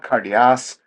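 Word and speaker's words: καρδίᾳ: So cardia, cardias, cardia, and cardian. The iota subscript is silent. You don't sound it at all.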